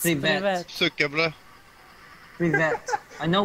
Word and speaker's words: Привет: Привет. Привет. Привет. Привет. Yes, привет. Сука, бля. Привет. Привет. No, they are lying привет. To you. Привет. It's сука, бля. No, it's привет.